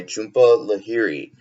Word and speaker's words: Jhumpa Lahiri: to do the third and final continent by Jhumpa Lahiri and I've looked that up so I pronounced it right so overall this story for